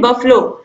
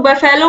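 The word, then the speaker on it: buffalo: इसके बाद question number 23 है, give the plural of the following family and बफलो। बफलो, इसको मैक्सिमम लोग बफेलो पढ़ते हैं, लेकिन इसका जो प्रोनाउंसिएशन होता है वो होता है बफलो।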